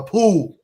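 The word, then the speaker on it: pū: She said, "Hawaiians use conch shell, which they call a," how do you pronounce that, Sean? P U a poo.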